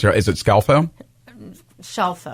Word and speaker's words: Scelfo: Scelfo. Like Scelfo. Seashell.